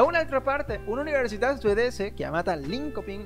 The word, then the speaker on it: Linköping: Da un'altra parte, un'università svedese chiamata Linköping, l'università Linköping, penso che si pronunci così, la Linköping, perché ha la diéresis, le due puntini sopra la O.